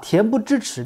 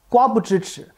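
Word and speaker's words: 恬不知耻: 的妇女，她把恬不知耻念成了瓜不知耻。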